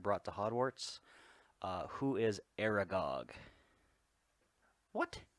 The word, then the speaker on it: Aragog: Who is Aragog? What? That's spelled wrong. They're stupid. It's not Aragoth. Aragoth.